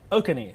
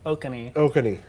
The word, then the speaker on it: Oconee: county he's in coffee he just said okaney is how you say i was calling oconee i actually have never had to say that okay so next time there's a storm that way i'll be able to say okani and he'll probably if